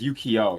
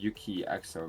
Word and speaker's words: Yukio: way let me check I think it's Yukio not Yuki XO right yeah say you can say it either way but yeah we'll just say Yukio yeah Yukio talk about